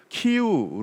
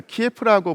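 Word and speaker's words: Київ: 자, 지금 보이는 지도는 동슬라브인들이 처음으로 세웠던 국가, 즉 키우 루스의 영역을 표시한 지도입니다. 핑크색으로 처리되어 있는 부분에 동슬라브인이 최초의 국가를 세웠는데 그 시기가 8세기나 9세기쯤이었죠. 예전에는 키예프라고 불렸던 도시, 그러다가 요즘에는 우크라이나 발음을 존중해서 키우라고 불러주는데, 이 키우가 가장 중심이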